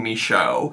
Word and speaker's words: Michaud: Twitch, which is Darlene Michaud. Her name doesn't look like it's pronounced that way. I have heard her pronounce her name, and that's how it's pronounced.